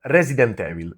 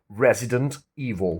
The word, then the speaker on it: Resident Evil: If you want you can also you know kind of eliminate the t at the end of the word resident. You can say resident evil but the main thing is resident evil not evil.